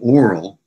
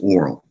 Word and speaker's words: oral: on their aural and oral. And I'm pronouncing those two words differently on purpose. In American English, they're usually pronounced the same. So just oral. But, you know, aural, if you wish.